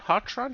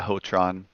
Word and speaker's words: Hotron: Hotron? How's that supposed to be pronounced? Yeah, Hotron. It's a Hotron. variation of our last name.